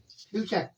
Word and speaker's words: future: क्या नियम है, यदि टी के बाद यू आर ई आता है तो टी को क्या पढ़ा जाता है, चा पढ़ा जाता है।